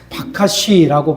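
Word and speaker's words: בקש: 이 성경에 나오는 찾다라고 하는 히브리어는 바카시라고 발음이 되는데 이 바카시라고 하는 히브리어는 단순한 탐색을 말하는 게 아니라 마음속 깊은 곳에 갈망하고 손을 뻗어서 그것을 잡으려고 하는 절박한 몸짓이라는 뜻입니다.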